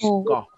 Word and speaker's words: go: Often we get students pronounce this as gosh, go. But it's go. O. It's a long O. Like show, go, grow.